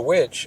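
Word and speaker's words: VVitch: a lot of of the witch or the vish depending on how you want to pronounce it and it reminded me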